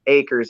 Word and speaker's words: Akers: Last name is spelled A, K as in Kimberly, E, R as in Robert, S. Akers, Akers.